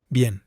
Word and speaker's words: bien: এই যে এটা যে ভুল যেটা, যেমন হচ্ছে Bien, বি এন, এটা কিন্তু ভেঙে ভেঙে উচ্চারণ হবে না, এটা কিন্তু একসাথে উচ্চারণ হবে।